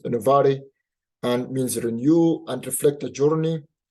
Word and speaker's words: innovare: It's innovare, but people love spell it as pronounce it as innovare, and means renew and reflect a journey.